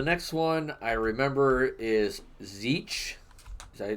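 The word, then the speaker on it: Tzeentch: that uh the next one I remember is zich did I pronounce that right I I pronounce it zinch with a an n in there zinc uh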